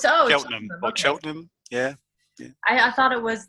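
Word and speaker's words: Cheltenham: I see it it's it's cheltonham oh it's chelam yeah I thought it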